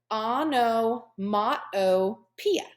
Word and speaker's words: onomatopoeia: very scary doesn't it pronounced Oh No ma Oh piya these right here are examples of onomatopoeia it sounds like a